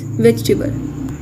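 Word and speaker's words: vegetable: वेजिटेबल इसके अंदर ई को प्रोनाउंस नहीं करना, इट्स वेजिटेबल. Next word is chocolate.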